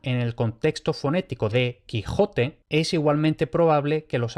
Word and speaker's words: Quijote: Entonces, esto como mínimo nos permite casi por completo desechar la pronunciación con sh para el Madrid de 1605, aunque ya resulta más difícil afinar si era la del medio o la de la derecha.